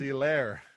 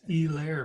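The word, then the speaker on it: Helaire: is Clyde Edwards hair do they just not pronounce the h or is that just a a Monday night broadcasting thing they kept calling him yeah I was like who the hell's elair it's elair man E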